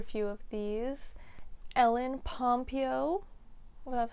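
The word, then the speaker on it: Pompeo: know quite a few of these ell ly pompo that's how you say her name uh Meredith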